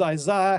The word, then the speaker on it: Isaiah: named after isaiah and let's just get the pronunciation right my friends it is isaiah he speaks as an englishman all right but